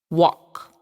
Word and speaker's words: walk: A teacher can be the word walk, the third picture in the L. The L, the silent L, yeah.